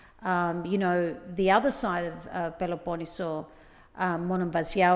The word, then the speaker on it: Monemvasia: I love, the other side of Peloponneso, Monemvasia or Monemvasia. How do the Greeks pronounce it? I don't even know. I've always said Monemvasia, I think that's it what I is. say, but some people pronounce it differently.